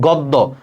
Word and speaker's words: গদ্য: যেমন গদ্য, গ সাথে একটা অ আছে, তাহলে শব্দের একদম প্রথমে, তাহলে আদ্য অ। দেখো তারপরে দেখো জফলা আছে, ঠিক আছে, তাহলে এই যে গটা ওর মতো উচ্চারণ হয়ে যাবে গদ্য।